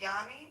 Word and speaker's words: Yanni: Um, oh, you said your name is pronounced Yanni.